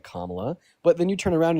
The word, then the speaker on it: Kamala: Like you guys know Harris's name like like you know that Kla Harris's name is pronounced Kamla, but then guess what?